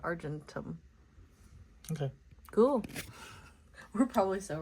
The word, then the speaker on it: Argentum: Argentum. Like Argentina, but Argentum.